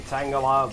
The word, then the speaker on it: Tangela: So apparently we have a Pokemon in spring year 37 become a laborer, Tangela. I know it's supposed to be Tangela, but it's so close to the Pokemon that I just have to make fun of it.